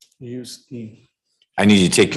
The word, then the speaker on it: Utsey: How do you pronounce the gentleman's last name? Yuski. I need you to take your mask off or. Yuski.